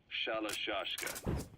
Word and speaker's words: Shalashka: that because somewhere along the line, Shashka got stuck on the end of Sharashka. The gorillas were using the name amongst themselves. By the time I got to hearing about it, pronunciation had wound up as Shalashka.